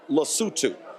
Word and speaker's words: Lesotho: So in his speech, he literally mispronounced the country. Then folks started to actually laugh in the room. It's called Lesotho.